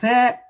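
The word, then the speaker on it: ث: So you pronounce tha as if you are saying thank you, okay, tha, tha.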